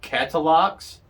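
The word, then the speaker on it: Katalox: guys but i do it's called catalogues it's a k-a-t-a-l-o-x i'm american so that's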